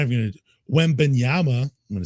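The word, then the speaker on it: Wembanyama: Wembenyama.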